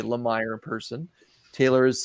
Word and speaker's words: Lemire: Now, last week, like I swear I've heard him say Lemire in person. Taylor has said that it's Lemire.